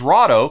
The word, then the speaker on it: Rahdo: Raw for. Doe, because my hobbit name is Rahdo, because it rhymes with Frodo.